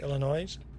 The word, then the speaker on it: Illinois: Do you skip? Do you do you drop the S at the end? You say Illinois.